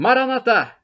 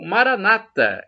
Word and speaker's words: Maranatha: tempo pronto eu Kairós o Maranatha como dizemos nós católicos essa expressão do aramaico dialeto de Jesus ou Maranata como dizem os protestantes os evangélicos eles com a tônica na penúltima sílaba nos com a tônica na última sílaba não importa porque somos